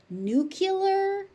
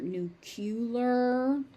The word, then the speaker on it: nuclear: Sadly, nuclear is becoming an accepted pronunciation, but it's really not an academic circles. So, learn nuclear and know that you're going to hear nucular even though it's wrong.